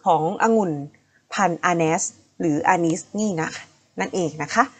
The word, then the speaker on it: Arneis: แค่ นั้น เลย ค่ะ อัน นี้ สะกด ว่า AR n e i s ค่ะ อานัส นะ คะ เป็น องุ่น เขียว นั่น